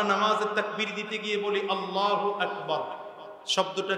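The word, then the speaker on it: الله أكبر: আল্লাহ আরেক হলো আকবার এখন আপনি যদি বলেন আল্লাহু আকবার আল্লাহু আকবার হু আকবার এটাও ভুল এখন যদি বলেন না এটা ঠিক না বলতে হবে আল্লাহ আকবার এটাও বলবে কথা কয় না ঠিক তাহলে কি বলতে হবে আল্লাহু আকবার আল্লাহু আকবার ঠিক তেমনি ভাবে সামি আল্লাহু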